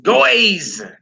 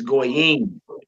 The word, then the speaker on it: goyim: Goyim. Goyim, nations. Notice we don't say goys. Goys. Heathens, goys. No, it's goyim. Goyim.